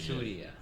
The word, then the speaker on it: Surya: Yeah, but most people aren't able to pronounce it correctly, so it's Correctly, Surya.